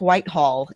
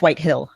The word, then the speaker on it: Whitehill: zombie show he was the voice of Griff Whitehall in the Game of Thrones telltale game series Griff Whitehill I'm sorry which it's a really good series